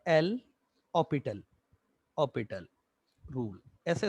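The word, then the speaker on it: L'Hôpital: ऑपिटल, ऑपिटल rule, ऐसे इसको पढ़ा जाता है। कुछ लोग इसको लॉपिटल भी पढ़ते हैं, लॉपिटल, और अगर सिंपली स्पेलिंग से जाए तो इसको एल हॉस्पिटल तो पढ़ ही सकते हैं, है ना।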